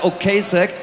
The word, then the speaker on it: Ocasek: Ich kann, habe gesagt, naja, also der Name wird ein bisschen anders ausgesprochen, der heißt nun mal Ocasek.